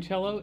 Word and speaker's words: cello: write y is cello pronounced cello with the ch okay that's the first